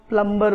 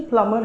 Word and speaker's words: plumber: India में इसको बहुत से लोग प्लम्बर बोलते हैं. तो क्या वाकई इसका प्रोनाउंसिएशन प्लम्बर है या इसका प्रोनाउंसिएशन प्लमर है?